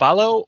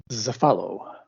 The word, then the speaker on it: Cephalo: Cephalo or Zephalo? Zephalo. Zephalo. Right.